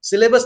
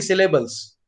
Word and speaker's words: syllables: Syllabus नहीं, syllables.